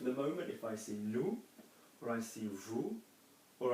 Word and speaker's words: nous: So we don't pronounce a letter if there's not a vowel after it.